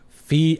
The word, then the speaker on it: Feige: And I said, you know, if I were Kevin Feige, is that how you say his name? Fe. I always thought it was Fij. I'm so stupid.